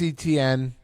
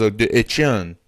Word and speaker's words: Etienne: They added Travis Etienne.